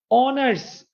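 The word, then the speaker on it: honours: অনার্স, এন অনার্স।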